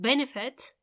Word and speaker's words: benefit: on the last syllable as in benefit benefit it's on the first one you don't need to